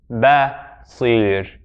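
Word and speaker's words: بصير: So the best way to pronounce this one, the fatha is on the ba, which is non-emphatic, so it's basir, basir.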